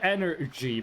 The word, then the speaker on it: XNRG: Baltimore you have Monster it's called Energy but it's spelled xnrg okay I'mma change I'm hurting